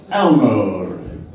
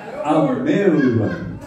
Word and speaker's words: Almere: And good evening, people of Elmore. I'm not doing it right. How do you pronounce the name of your town? Almere. Good evening, people of Almere.